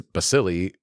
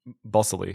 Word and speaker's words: Balsillie: Critic Adam Kempenaar also praised the film writing Howerton plays Balsillie like an actual shark.